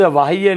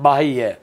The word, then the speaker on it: बाह्य: तो दोस्तों शब्द वाह्य नहीं होता है, शब्द क्या होता है, बाह्य, क्योंकि बाह्य में देखो बाहर, तो यहाँ बाह, बह से बना है, यह प्रत्यय लगा है, इसलिए तो क्या होगा, बाह्य, बाह्यंग।